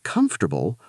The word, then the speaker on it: comfortable: Then comfortable, also 3 syllables.